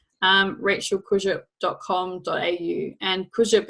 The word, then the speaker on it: Kurzyp: my website so it's just my name Rachel Cruiser comma au and cruise ship is spelled okay you said Y P it's kind